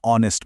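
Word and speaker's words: honest: वो साइलेंट है। पहली आवाज जो निकलती है वो है ओ की जो एक वॉवेल साउंड है। इसीलिए हम कहते हैं एन ऑनेस्ट मैन।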